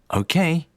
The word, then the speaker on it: okay: Okay. Stress of okay on the second syllable.